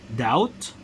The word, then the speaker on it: doubt: with silence B sound read the following words with silent B sound that means you're not going to pronounce but examples of this